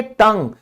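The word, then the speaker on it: tongue: जीभ, हाँ, इसको हम क्या बोलते हैं, हम इसको बोलेंगे टंग। क्यों बोला हमने कि यू के बाद हमारा एक वावल लेटर आ गया।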